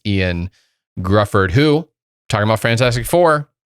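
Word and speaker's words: Ioan Gruffudd: to pronounce his name is it eon gruffalo it's the weirdest it's the most celtics well spelling of it but it's ian grufford who talking about fantastic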